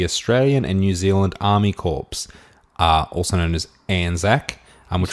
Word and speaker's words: Corps: and New Zealand Army Corps, also known as ANZAC, which say was established... Corps. Isn't it core? C-O-R-P-S. Yes, Core? pronounced core.